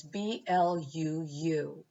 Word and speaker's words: BLUU: multicultural experiences then there's blue which is black lives of unitarian universalism and it's pronounced like the color blue blue is a group